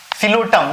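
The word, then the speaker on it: Psilotum: सिलोटम नाम है, सिलोटम, P silent है, सिलोटम है ना, साइलोटम वही, ठीक है।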